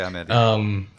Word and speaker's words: Amélie: Sorry, Amelie. Yes. Yeah. I'm pronouncing it the French way. I don't know if the Swedish way is.